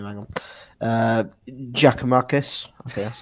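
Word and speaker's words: Giakoumakis: Hang on, Giacomakis.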